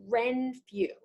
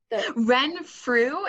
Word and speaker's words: Renfrew: can learn from you today your program is wren few renfrew it's a bit of a tongue um twister it's spelled r-e-n-f-r-e-w when through yes okay wonderful and